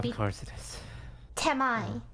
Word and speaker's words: Temi: Temai, and you spell it T-E-M-I. Temi. No, Temai.